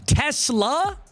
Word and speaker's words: TeSlaa: I asked Isaac in person, how do you pronounce your name? Because it seems like announcers always struggle with it. It is TeSlaa, except instead of it's So TeSlaa.